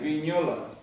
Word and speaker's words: Vignola: Como los italianos no tienen ñ, ¿qué hacen? GN, Vignola. Se pronuncia ñ, pero no se escribe ñ.